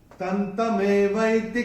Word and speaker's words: तन्तमेवैति: का अक्षर है त, और अनुस्वार के बाद जब त आएगा तो अनुस्वार का उच्चारण होगा न। तो ये हम अपनी किताब में नोट करके रख सकते हैं। और चौथे चरण में चरण की समाप्ति पे जो विसर्ग आ रहा है उसका उच्चारण केवल और केवल ह ही होगा, क्योंकि ये चरण की समाप्ति पे आ रहा है। तो कैसे होगा? तन्तमेवैति कौन्तेय सदा तद्भाव भावितः, ऐसे करके आएगा।